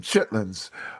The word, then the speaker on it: chitterlings: They call them chitlins, but I'm trying to pronounce them phonetically, chitterlings.